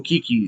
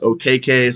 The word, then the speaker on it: Okeke: And his name is now no longer Chuma Okeke, it's Chuma Okeke. We've all been saying his name wrong. He just informed everyone that it's pronounced Okeke.